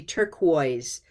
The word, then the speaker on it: turquoise: Turquoise, just two syllables. Turquoise. Coise. Yeah, that word is tricky because of the spelling. We want to make more of the spelling than we need to.